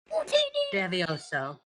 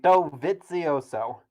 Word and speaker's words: Dovizioso: Devioso. No, you don't say it like that. Dovioso. Okay. God damn it, Dovizioso.